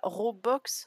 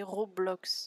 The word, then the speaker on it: Roblox: Non, bah Robox, c'est Roblox. Oui, avec un, Roblox. C'est un jeu.